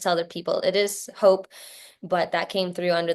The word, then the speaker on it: Hope: Yeah, so it's actually pronounced Hoep, but that's the only person that calls me that is my husband. Um, so I just tell other people it is hope, but that came through